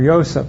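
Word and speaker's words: Yosef: a y for ysep okay the p and the pH are the same for the ending it could have been ysep or ysep yo yo anyway um it it's something and it probably sounded very Jewish so so we don't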